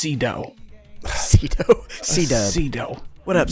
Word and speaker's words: Sydow: I think I've always heard it pronounced Cedo.